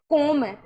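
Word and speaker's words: comb: जैसे यहां पर आपके सामने है कोम। अब इसको बी लिखा हुआ है। तो अगर बी का उच्चारण करेंगे यहां पे कोम तो इसका कॉम्ब का तो प्रोनाउंस ही अलग हो जाएगा ना।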